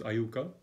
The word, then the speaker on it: IUCAA: In the Indian University Center for Astronomy and Astrophysics, which the acronym is just pronounced as IUCAA.